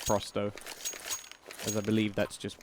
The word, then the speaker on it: pro100: actually told uh pretty early on that it's pronounced frosto as I believe that's just 100 in going